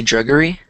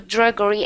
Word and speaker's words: drudgery: Is it the correct pronunciation? Did you say druggery? Yeah. We can avoid the drudgery and the toil.